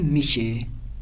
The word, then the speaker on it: میشود: میشود کو تبدیل کر دیتے ہیں میشے.